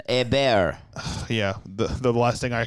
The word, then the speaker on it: Hebert: Hebert, give it the French pronunciation. Hebert.